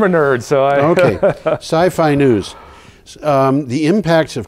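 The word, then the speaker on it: SYFY: on his Council um s i FY how would you pronounce that it's that's the Sci-Fi channel it that's how I call it yeah I think that's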